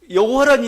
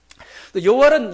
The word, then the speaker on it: 여호와: 그 여호와의 발음을 잃어버렸습니다 발음 왜냐면은 히브리어는 자음만 있어요 자음만 있습니다이 자음만 딱 있는데 몸은 이제 우리가 면 하는 거죠 근데 오랜 시간 동안이 모음이 없는 상태에서 부르지도 않았단 말입니다 그러다 보니까 뭐요 그 발음이 정확히 뭐냐 구분이 안 됐던 거죠 그래서 사람들이 여호와라 단어가 어떻게 나왔냐면 원래는 이제 이응 뭐 히 뭐이 정도만 자음만 있는 겁니다 거기다가 아도나이 모음을 붙였습니다 그러다 보니까 발음이 여호와가